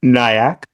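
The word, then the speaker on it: Nyack: in New York state yeah so yeah it's pronounced nyak that's what I thought it was I thought it was nyak for those um for those who actually you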